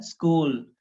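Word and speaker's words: school: हाँ, ई साउंड नहीं है इसमें, ऐसे पढ़ते हैं ना इसको, स्कूल तो नहीं है, और ना ही ये स्कूल लिखा हुआ है, दोनों ही तरीके से जो है गलत, प्रोनाउंसिएशन गलत है। ये लिखा हुआ है स्कूल, इसमें आधी एस आती है, ऐसे पढ़ा जाएगा इसको, स्कूल।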